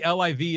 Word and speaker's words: LIV: sense either so then maybe livv is the correct way to say it since it's an acronym or well it's Roman numeral way to go John thank